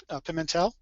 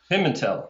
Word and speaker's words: Pimentel: pronounced right or not the last name is pronounced Pimentel pimel okay pimel pimel or pimel it depends on what part of the country you're from okay well that's pretty